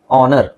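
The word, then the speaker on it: honour: ನಾನೊಬ್ಬ ಪ್ರಾಮಾಣಿಕ ವ್ಯಕ್ತಿ ಓಕೆ ನೆಕ್ಸ್ಟ್ ಆನರ್ ಆನರ್ಎಚ್ ಅವಶ್ಯಕತೆ ಇಲ್ಲ ಆನರ್ ಆಮೇಲೆ ಆನರಬಲ್ ಆನರಬಲ್ ಓಕೆ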